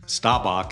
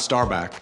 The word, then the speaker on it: Staubach: starb starbu starbu Bach stabach is the pronunciation starbu not starbu say it one more time stabach starbu not Starbuck Starbuck starbu Starbuck no